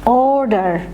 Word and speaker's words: order: words, in alphabetic order, order। তোমরা কেউ কিন্তু অর্ডার বলবে না, অ উচ্চারণ করে, অর্ডার, অর্ডার, কখনোই স্বরে অ উচ্চারণ করে অর্ডার বলবে না।